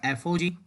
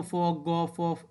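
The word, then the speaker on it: f∘g: कभी इसको फॉग Gogh ऐसे भी बोलते हैं, बट हम जनरली प्रोनाउंसिएशन करेंगे एफ ओ जी, जी ओ एफ जी ओ जी.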